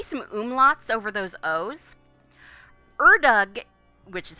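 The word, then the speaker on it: Ördög: Erdug, which is how it is pronounced, is the Hungarian name basically for the devil, a personification of darkness and evil.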